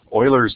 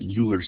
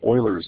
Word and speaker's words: Euler: numbers maybe even my favorite number it's called Oilers number some folks call it Euler's number but I believe that's a mispronunciation it's actually called Oilers number so Oilers number is a special thing